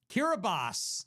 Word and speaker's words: Kiribati: Kiribati is actually how it's pronounced.